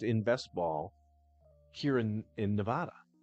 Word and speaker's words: Nevada: If you're not a resident of Nevada, it's Nevada. But if you live here, you're supposed to know. The correct pronunciation is Nevada.